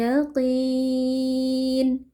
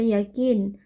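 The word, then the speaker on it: يقين: Ilmal yaqin. Huruf qof huruf tebal. Kita baca dengan mengangkat pangkal lidah ya. Jadi qof kasrah itu tidak menjadi tipis ya. Jadi tidak boleh dibaca yakin tapi yaqi tetap tebal.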